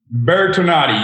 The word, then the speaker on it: Bertonatti: He's Bertonatti. Did I get it right? Bertonatti, yes. It's Italian. I'm close. That's the North Miami Beach pronunciation.